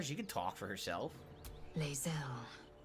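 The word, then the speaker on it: Lae'zel: could talk for herself laelle laelle proud Regal even you will call me there now you've heard her name pronounced correctly talk onor Knight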